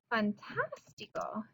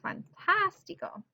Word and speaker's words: fantástico: Any word that doesn't have, that has a stress on the third from last syllable. Fantástico. Ooh, fantástico.